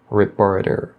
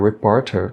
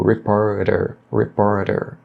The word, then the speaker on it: reporter: O T de reporter, no inglês americano, é pronunciado com o som do nosso R, o nosso R fraco, como na palavra caro, por exemplo. E aí fica reporter. Mas pronunciar reporter também está correto. O que ocorre é que no inglês americano eles pronunciam com o som do nosso R fraco, reporter. Oh.